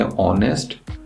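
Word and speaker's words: honest: उसी तरह से ऑनेस्ट जो है, एच जो साउंड है, ये एच साइलेंट है, ये शुरू होता है ओ से, तो इसीलिए हमें एन लिखना पड़ता है।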